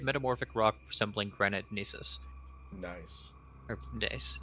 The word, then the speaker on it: gneiss: Nice. Or gneiss. Nice, sorry. At least that's how I've always assumed it's pronounced. No, I think that is correct.